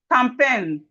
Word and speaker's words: campaign: When we have G and N, the G is silent.